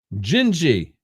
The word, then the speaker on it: Gingy: Pronounce Gingy, but as one word. Okay. All right, Gingy. Okay, pronounced Gingy.